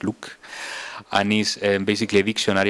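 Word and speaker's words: LIWC: We applied the standard methods in psychology called LOOK, Linguistic Inquiry and Word Count, pronounced LOOK, and is basically a dictionary of words in different classes generated by psychologists, and they put words in certain classes.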